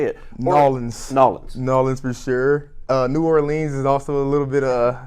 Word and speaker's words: New Orleans: about the pronunciation of New Orleans because you hear it so different I say New Orleans you said New Orleans but here nawlins you hear New Orleans what drives you nuts